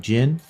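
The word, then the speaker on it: Cin: name is Jin Jin it's spelled with a c but I think it's pronounced with a G like Jin um why can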